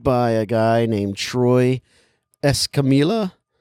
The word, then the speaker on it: Escamilla: It was directed by a guy named Troy Escamilla. You know 2 L's? You know Troy. And so, yeah. Because it could be pronounced like a Y.